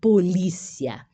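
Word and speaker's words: policía: em escena Del cri português é polícia policia espanhol polícia só muda né o o acento tônico da palavra a escrita é igual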